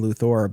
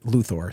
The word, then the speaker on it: Luthor: the next one is I have seen it said it's spelled with an o r not an e but there are so many words that end with o r that are not pronounced that way plus it's a